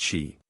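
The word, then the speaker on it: sídhe: Dana toath Dan or the cidi pronounced she so firm was the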